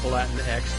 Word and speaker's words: Latinx: Yeah, and it's supposed to be pronounced Latin X, but it never not looks like Latinx.